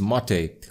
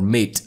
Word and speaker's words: MATE: The next change comes for the desktop environment, which is Mate or Mate, depending on what you want to pronounce it.